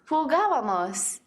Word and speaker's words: jugábamos: Something to notice is that the tilde on the first A. That shows you the accent needs to go on the 3rd syllable from the end instead of the 2nd syllable from the end, which is the most common pronunciation for most verbs.